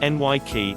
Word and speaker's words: Nike: hardcore fans of the brand mispronounced the name Nike it is correctly pronounced NY key and the name comes from the Greek goddess